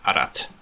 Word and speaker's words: ast: So like what's written as, say, ast, you just have to know that it's actually pronounced arat.